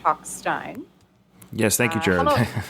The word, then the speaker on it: Talkstein: I didn't know how it was pronounced, so he told me that it's pronounced Talkstein.